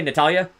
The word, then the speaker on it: Natalia: natalia you have not am i pronouncing your name correctly natalia is that yes okay so quickly um